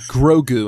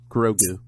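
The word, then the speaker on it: Grogu: yle to me uh grou and I looked it up on uh online to see how you spell it g r o guu grou just like it just like it sounds yes gr which actually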